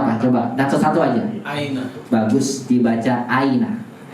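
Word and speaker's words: أين: Aina. Bagus, dibaca aina. Kok dibacanya aina nggak usah nggak uina atau in, emang begitu kalimatnya karena artinya di mana?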